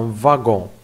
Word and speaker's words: wagon: watts ici attention c'est pas moi c'est un wagon ça se prononce est une exception wagons à la va